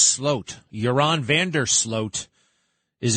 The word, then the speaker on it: Sloot: And Joran van der Sloot, also, it's spelled Sloot, but it's pronounced Sloat.